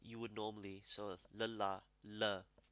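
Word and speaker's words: ਲ਼: So lala, la. But lele per bindi, la. Is you have to actually roll your tongue. So think of it like rara or nana.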